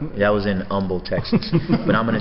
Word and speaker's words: Humble: was in you got you guys don't pronounce the H right right that was in Humble Texas but I'm gonna say